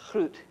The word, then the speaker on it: Groot: name of the farm is fruit or groot if you would pronounce it meaning great constantia and you may have